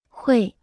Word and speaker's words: 会: 会，会，会，会，会，会，会， Se pronuncia con el cuarto tono.